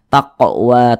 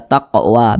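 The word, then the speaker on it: تقوى: Apabila dia sukun maka cara bacanya itu dipantulkan, taqwa taqwa begitu.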